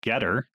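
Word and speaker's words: Gettr: alternative to twitter called getter um it's spelled g-e-t-t-r as in you know better done it launched in july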